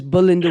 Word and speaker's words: Belinda: with Kingsley Ferguson and Melinda Wilson, his son. Her name is Belinda Wilson. Pardon me? Her name is Belinda. Let me respond to you still. Wilson. I pronounced it wrong.